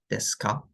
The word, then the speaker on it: ですか: ですか? すみさんは先生ですか? Well, this is the structure of the question sentence. And since it's a question, it's usually pronounced with the rising intonation on the ka.